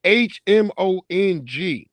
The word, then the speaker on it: Hmong: It's Hmong. I know that's how they showed me how to spell it.